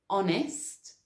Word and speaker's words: honest: So I'm thinking like the word honest starts with a consonant, but is pronounced with an O sound. So in that case, we say an honest person, not a honest person.